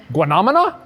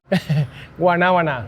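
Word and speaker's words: guanábana: If you can pronounce it. I can say soursop. I know how to say soursop, but guanamana? Guanabana.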